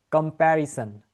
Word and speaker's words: comparison: এখন এই ওয়ার্ডটাকে আমরা যদি সান বলি, এই কম্প্যারির পরে যে ওয়ার্ডটা আছে না, SON, এটা হবে সান। So the correct way to pronounce the whole word would be comparison. Comparison. All right? Not comparison. Clear?